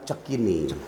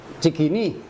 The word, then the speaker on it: Cikini: Menyangkut namanya Jalan Cekini. Cikini. Cekini. Orang asli Sekarang. bacanya Cekini. Cekini. Oh, orang dulu Cekini bilangnya. Iya. Jadi bukannya Cikini.